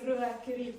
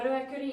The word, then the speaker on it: Ruakuri: So we pronounce it as Ruakuri cave. Now Ruakuri, it also translates to 2 dogs or den of the dogs.